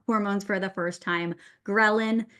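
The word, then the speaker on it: ghrelin: for the first time grin has that g sound at the beginning so G like your stomach's growling is what we call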